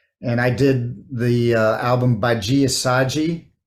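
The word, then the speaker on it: Badi Assad: And I did the album Baji Assaji, and that's spelled Badiassad, with the Brazilian.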